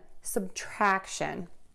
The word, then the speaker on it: subtraction: in pitch addition addition next we have subtraction again we're going to have that schwa sound and that first syllable sub it's unstressed track shun subtraction next multiplication we have lots